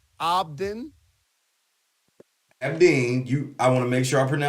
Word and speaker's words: Abdin: Abdin. Ab, like all those abs you got.